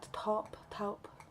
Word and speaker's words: taupe: Taupe.